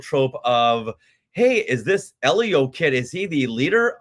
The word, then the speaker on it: Elio: check in, we said, "Now, is it Elio or Ilio?" And she rolled her eyes like, "Everybody's been asking us this. It's It's Elio.